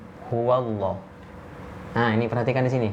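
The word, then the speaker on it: هُوَ اللّٰه: Huwallah, bukan huwallah.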